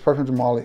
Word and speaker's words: Parfums de Marly: Is it Parfums de Marly? Yes, Parfums de Marly.